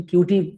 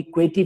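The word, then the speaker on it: Couette: अब एक है क्वेटी फ्लो, ठीक है, ये क्यू मतलब कोई इसको, कुछ लोग इसको क्यूटी फ्लो कहते हैं, कोई क्वेटी फ्लो कहते हैं, प्रोनाउंसिएशन इसका जो भी है।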